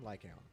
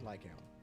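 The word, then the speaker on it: Lycaon: out hmm yeah just make sure the own sounds like cone like owl like gown I said like ion the first known Raider of Victoria housekeeping is Von lycount oh God now annoying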